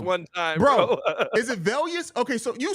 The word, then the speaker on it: Velus: Is it Velius? Okay, so you say it. Velus. Velus. What? I feel like I'm saying it the way you're saying. No, say it like Vaylus. Velus. Yeah, there you go.